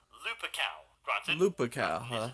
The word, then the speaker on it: Lupercal: By the way, am I the only one who thought that Horus's last name was Lupercal rather than Lupercal? I actually looked up the Roman supposed pronunciation of it, and it is apparently Lupercal.